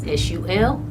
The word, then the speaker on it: Sulpacio Jones: That's SULPACIOJONES.